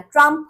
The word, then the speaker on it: ট্রাম্প: Second হচ্ছে ট্রাম্পকে ট্রাম্প বলছেন। লাস্টে ফ হয়ে যাচ্ছে। ট্রাম্প কিন্তু লাস্টে পিএইচ টি আর ইউ এম পিএইচ তার নামের বানান। এটা হলেও পিএইচ থাকলেও এটা কিন্তু ফ হবে না। ট্রাম্প হবে প।